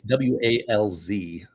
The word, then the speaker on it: Walz: It's Walz. Right, but does he pronounce Waltz or Walz or Walz? Do you know? Walz. Tim Walz. Like, from the windows to the walls.